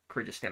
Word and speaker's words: Kyrgyzstan: Um that is Kyrgyz- Kyrgyzstan, I think.